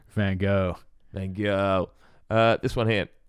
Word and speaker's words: Van Gogh: So Van Gogh's Olive Trees.